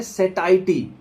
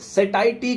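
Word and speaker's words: satiety: शब्द को समझना पड़ेगा इस शब्द को बोलते हैं सेतैती कुछ लोग इसको अलग तरीके से प्रोनाउंस करते होंगे सटायटी का मतलब जो है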